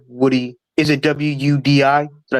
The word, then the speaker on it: Wudi: Like it rhymes with booty, Woody.